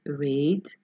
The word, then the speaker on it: read: here in this box we put read because the pronunciation rhymes with the rest fed led by red and we